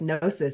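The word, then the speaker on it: gnosis: and I had to look it up yes nois so it's spelled g n o s i s and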